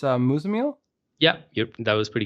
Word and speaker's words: Muzammil: how do you say your name it's uh mozamel yeah yep that was pretty good yeah awesome